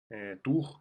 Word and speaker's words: Tours: Tours, né? Pronúncia em francês.